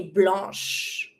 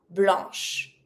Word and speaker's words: blanche: And we're going to say blanche. And you don't pronounce the E. Blanc, blanche.